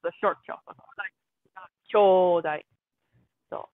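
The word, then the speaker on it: 兄弟: What's kyodai? I thought it was a brother, but So apparently it's that's not a very, different. you're correct. Kyodai with a long O is brothers, or actually it's siblings.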